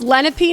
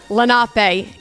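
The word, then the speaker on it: Lenape: So this is it's pronounced Lenipe Nation not Lape Nation.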